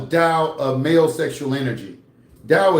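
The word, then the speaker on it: Tao: Dao is spelled T AO.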